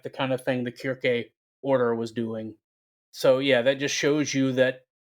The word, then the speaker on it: Kirke: Now, Kirke is just the more Greek pronunciation of Circe.